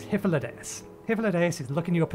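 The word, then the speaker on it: Hythlodaeus: remember the pronunciation because i still want to pronounce the first bit high no it's hyphalades hippolytus is looking you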